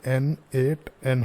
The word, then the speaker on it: n8n: N8N का जो pronunciation है वो N8N होता है।